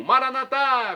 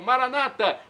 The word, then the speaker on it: Maranata: E agora, do aramaico dialeto de Jesus, eu clamo Maranatá, como dizemos nós católicos, ou Maranata, como dizem nossos irmãos separados, os evangélicos ou protestantes. Não importa a pronúncia, o significado é o mesmo.